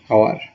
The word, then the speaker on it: hour: আমরা H consonant হওয়া সত্ত্বেও যদি সাউন্ডটা যদি সাইলেন্ট হয় তার আগে আমরা আর্টিকেল এন ব্যবহার করব। Very simple. Example, an hour, an example এখানে দেওয়া আছে an honest man,